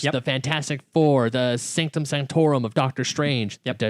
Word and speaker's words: Sanctum Sanctorum: the Fantastic Four, the Sanctum Sanctorum of Doctor Strange. Yep. Did I say it right? Sanctum Sanctorum.